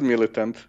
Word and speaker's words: MilitAnt: Yeah, just pronounce it MilitAnt.